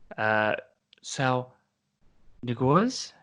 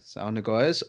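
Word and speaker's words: Saúl Ñíguez: Sal Niguez? Yes, Sal Niguez of Atletico Madrid.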